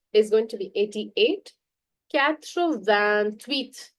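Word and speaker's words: quatre-vingt-huit: Catro van tweet. There is a leazison here. Do not forget CR van tweet.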